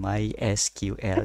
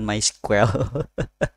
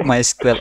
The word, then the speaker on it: MySQL: Nah, cuman misalkan di MySQL dia tuh negasin tuh the official way to pronounce MySQL is ya itu disebutin MySQL jadi satu-satu, bukan bukan MySQL.